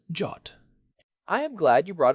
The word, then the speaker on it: JWT: all that is holy, pronounce JWT as "jot".